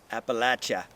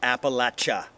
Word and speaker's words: Appalachia: say in Appalachia sang Appalachia that's we've also learned how to pronounce that word correctly if we intend to live here like it local remember Appalachia not Appalachia not Appalachia abhilasha Appalachia so we've got some